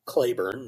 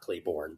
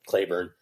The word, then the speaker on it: Claiborne: But we moved to Clayburn, that's how the locals pronounce it, not Claybornne, but Clayburn.